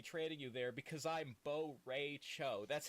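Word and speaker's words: Bo' Rai Cho: I will be training you there because I'm Bo Ray Cho. That's how he pronounces his name.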